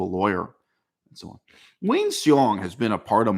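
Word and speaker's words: Hsiung: Wayne, and his last name is spelled H-S-I-U-N-G. Wayne Seong, he's a Chinese American, but born and raised in America, went to school in America.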